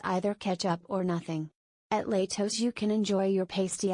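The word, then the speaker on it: Lehto's: years and don't sound like a troll it's pronounced Latos Notley das owners bill and Lori Walker bought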